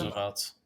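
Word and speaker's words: RSVLTS: classy look at the how do you pronounce it is it the results shirts they're now licensed by Disney Roosevelts yeah Roosevelts all right I can't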